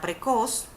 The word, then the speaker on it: precoz: palabra por ejemplo está la palabra precoz que hace la mayor fuerza o intensidad en la última sílaba pero no se le coloca la tilde porque termina en consonante